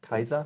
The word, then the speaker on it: Caesar: The way the C is pronounced is Latin, Oh, okay. like Kaiser. Oh, okay. You know, Caesar is Kaiser.